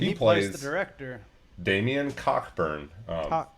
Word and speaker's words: Cockburn: plays the director damian cockburn cockburn yeah uh yeah and he spelled like it sounds he's the director in